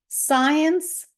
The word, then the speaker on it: science: читаємо окремо с ц а в англійській мові читається с с тому Зливається в один звук Science seen sent disciple fascinating